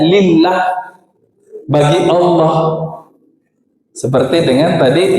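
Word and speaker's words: لله: Kalau alifnya di depan diambil jadi lam, ha, bacanya lillah, bagi Allah.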